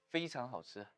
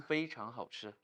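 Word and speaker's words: 非常好吃: 非常好吃. Okay, one more time. 非常好吃.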